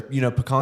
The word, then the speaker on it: pecan: Not pecan pie. Pecan pie is how you pronounce it, in case you're wondering. If you say pecan, you're wrong. Thank you.